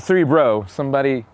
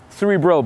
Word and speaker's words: Cerebral: At CerebralBJJ, because Cerebral, right? Not Cerebro. Some crazy X-Man fan was like, I can't find you. And I'm like, Cerebral, bro, not Cerebro.